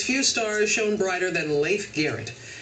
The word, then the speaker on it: Leif Garrett: In the 1970s, few stars shone brighter than Leif Garrett. Did I say it right? You did.